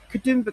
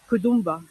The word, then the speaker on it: Katoomba: You may have noticed there's a slight difference in the way that is pronounced. And Katoomba is more or less an anglicisation of the way the local Indigenous peoples would have said the name for this area, Katoomba, which roughly translates to shining, falling water.